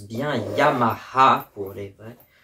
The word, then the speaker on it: Yamaha: le sac Yamaha et on prononce bien Yamaha pour les vrais parce que ça se dit comme ça en japonais c'est tout et puis